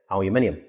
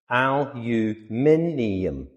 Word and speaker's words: aluminium: I'm British, so I say aluminium, but Americans pronounce it aluminum. Aluminum. Aluminum. American. Aluminium.